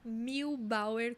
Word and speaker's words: Muehlbauer: O meu arroba é Milbauer, como se fala.